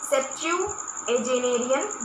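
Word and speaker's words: septuagenarian: ठीक है, बोलते हैं ऐसे, याद रखो आप, सेप्चुएजेनेरियन बोलेंगे। सेप्चुएजेनेरियन बोलेंगे। ये पूरा आपका एक स्पेलिंग होगी, थोड़ी बड़ी होगी तो इसमें मैंने नीचे लिख दिया।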